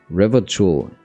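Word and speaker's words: Revachol: stability and order of Revachul. You say it's Revachul? Alright. Why is it spelled with an O then?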